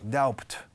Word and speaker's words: doubt: La B es muda en esta palabra. Porque os emperráis siempre en decirlo. Doubt.